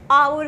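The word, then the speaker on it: hour: नहीं लगाते, एन लगाते, क्योंकि एच हम कह सकते हैं साउंड साइलेंट है। जैसे कि ऑनर है ना, एन ऑनर, Eyre, आवर glass, then हम लोग बोल सकते हैं ऑनेस्ट मैन, है ना। तो एन ऑनेस्ट मैन, यहाँ पर एच साइलेंट बोल सकते हैं या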